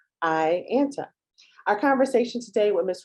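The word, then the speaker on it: AIANTA: Rupert, CEO of the American Indian Alaska Native Tourism Association, pronounced IANTA.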